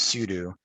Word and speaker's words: sudo: So it's sudo, not sudo, very commonly mispronounced.